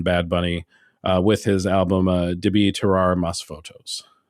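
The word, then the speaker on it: Debí Tirar Más Fotos: Bunny with his album Debi Terrar Mas Fotos. Pronunciation too. Thank you. I had to make sure I had the accent on the right syllable.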